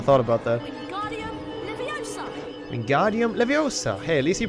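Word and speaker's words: Wingardium Leviosa: fair I never thought about that wingardium leosa wingardium levosa hey at least he pronounces it properly in this game they've took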